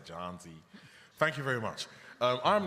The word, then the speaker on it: Jonzi: How would you pronounce J-O-H-N? Z. Yeah? Because I will say J-O-H-N as John, and it sounds like I'm saying Jones, but I'm not. Yeah? So you guys say Jonzi.